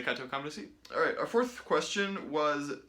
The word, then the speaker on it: Cateau-Cambrésis: That's spelled weird, but I'll say it again, the Treaty of Cateau-Cambrésis.